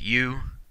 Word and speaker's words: eu: our last prefix here EU is pronounced you that would mean good